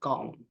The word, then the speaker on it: gall: 그래서 gall, gall, gall.